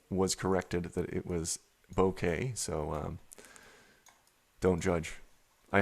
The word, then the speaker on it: bokeh: panel i pronounced it boca for years and years and then was corrected that it was bokeh so um don't judge i had no idea but it's a japanese word that is it talks